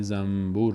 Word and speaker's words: زنبور: ساکن حرف با آمد اون نون تلفظ نمیشه و میم تلفظ میشه به جای نون میم تلفظ میشه به جای نون میم تلفظ میشه وقتی که بعدش حرف با بیاد مثل کلمه زنبور در فارسی و من بعد